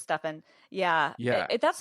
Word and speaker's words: Stefan: it huh poor Stefan everyone calls him Stefan because it's s-t-e-f-a-n which is how I would say it but it's stuffing yeah yeah that's not